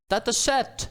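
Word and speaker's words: Datasette: that is data set how does one pronounce this it sounds French dat set founder Simon Wilson declares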